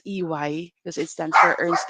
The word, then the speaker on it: EY: people who call us who calls or company AE okay so it's not a it's e y because it stands for Ernst and Young okay